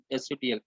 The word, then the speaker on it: subtle: Okay, so subtle, SUBTLE, B is silent, so we pronounce that as SUTL.